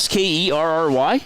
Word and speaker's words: Skerry: It rhymes with fairy. SKAI. No. The other fairy that you take on boat. SKE. Oh, is it SKERRY?